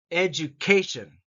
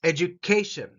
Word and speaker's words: education: Education. And this word K gets the emphasis. Education. Education.